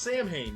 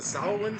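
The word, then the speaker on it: Samhain: the Misfits before he went solo, it's not pronounced Sam Hayne.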